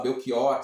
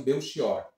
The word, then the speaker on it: Belchior: novela de Belchior né Engraçado a gente fala Belquior se referindo ao cantor mas na novela o personagem eles pronunciam beor luí Armando Queiroz e